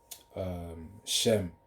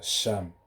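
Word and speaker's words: שם: And the reason why I always spell it out, because I know it sounds similar to Shem, but it's Sham, which is S or Sham, Sham.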